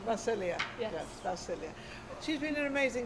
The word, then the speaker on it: Vasilija: name is spelled v-a-s-i-l-i-j-a the j is silence it's serbian macelia yeah she's been in